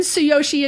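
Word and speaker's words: Tsuyoshi: he's also on YouTube so say his name slowly yeah oh yes so Yoshi ichikawa that's t-s-u-y-o-s-h-i yeah I think I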